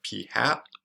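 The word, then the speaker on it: p̂: our sample proportion we're going to denote as p was like a little hat on its head and so this is kind of pronounced like p hat so um before we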